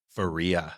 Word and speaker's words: Faria: was going to see if you're going to pronounce my name correctly and you did not what is it Faria ah everybody else growing up her name was